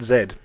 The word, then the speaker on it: Z: just called Zed and apparently yes it is pronounced zed zed is a strategy game where you controlled